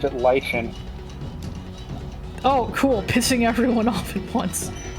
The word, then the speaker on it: lichen: This is the Lichen versus Lycan argument all over again. It turns out they're both correct. Oh boy. In different parts of the world. I pronounced it Lichen.